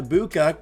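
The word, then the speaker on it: Egbuka: Elsewhere, Emeka Ibuka showed people that you don't need to pronounce the G in his name because he already is one.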